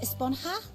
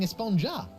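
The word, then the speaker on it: Esponja: Actually, it's pronounced Esponha with an H sound at the end. Really? But we've all been saying espa.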